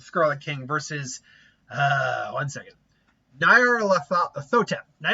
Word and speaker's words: Nyarlathotep: King versus, one second, Nyarlathotep. Nyarlathotep. It's that R part that gets me. See, I can do Nyarlathotep, no problem, but Nyarlathotep, I need to actually kind of phonetically say it out like that.